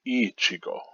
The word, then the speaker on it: Ichigo: most is william shakespeare how to pronounce his name ichigo emphasis on the i or the e accented like ichigo ichigo and uh here we